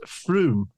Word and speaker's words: Frome: Somerset and Frome, Conservative majority 19,213. Excuse me, landlord. I think, if I'm correct, it may be pronounced Froome.